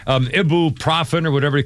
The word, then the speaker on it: ibuprofen: Have you ever heard anybody say ibuprofen? I need some ibuprofen. No, it's ibuprofen, but it's spelled I-B-U-F. I mean, it's spelled I-B-U-F. Ibuprofen. Nobody says ibuprofen. Everybody I know says ibuprofen. Everybody says I need some ibuprofen. Ibuprofen. Ibuprofen. They don't say the ibuprofen. Ibuprofen.